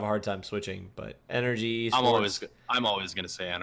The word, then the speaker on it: NRG: so long and like we always pronounce it NRG I have really hard time switching over to their like new preferred way of saying it which is energy like that's what it's supposed to be but like none of